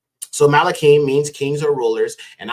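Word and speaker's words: מלכים: First Kings as well as second Kings malakim Shani would be second Kings right here okay malakim Shani and Shani means second okay the next book is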